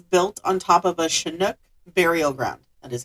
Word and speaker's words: Chinook: Per the story, the original story, the property was built on top of a Chinook burial ground. That is how it's pronounced.